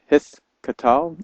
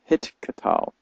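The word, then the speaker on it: הִתְקַטֵּל: So this says, depending on your pronunciation, either hith katal or hit katal. Hit katal would be the modern way of saying it, which is the one that I stick to.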